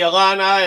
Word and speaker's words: Illinois: So Oh, the Alanai and the S is silent, right?